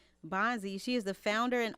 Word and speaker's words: Bondzie: Bondzie. Did I pronounce that correctly? Bondzie.